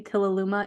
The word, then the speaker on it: Tilaluimah: of seven billion people I am the only Tila Luma in the world I love it can you spell that can you spell that for our listeners